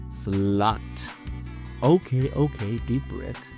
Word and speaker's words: slut: Slut. Okay, deep breath. The Swedish pronunciation is slut.